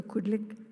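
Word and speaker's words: qulliq: And I want to say this just so for once it's pronounced correctly, the lighting of the Kudlik.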